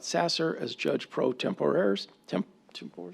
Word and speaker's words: tempore: Tempore, is that how you pronounce that, Chris? Tempore, thank you, Chris, of the Gilbert Municipal Court.